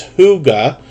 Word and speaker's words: hygge: pronunciation of this is hygge homestead you would almost think of it as h-o-o-g-a homestead uh but they've been